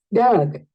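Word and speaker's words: dug: Es un sonido schwa. Doug, Doug. Es un poco más suavecito.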